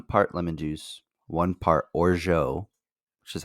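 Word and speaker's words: orgeat: up and it was in the U.S it said it's pronounced or jat and then in French it's pronounced or ja okay so it's like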